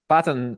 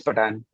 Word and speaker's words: Patan: Patton. Uh am I pronouncing your name correctly? Patton or Patan? Yeah, it's Patan.